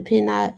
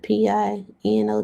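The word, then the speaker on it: Pinot: P I N O T. Guess I'm saying it wrong. Share this tab. Here you go. Oh, Pino. Pino. Same thing. Like the wine.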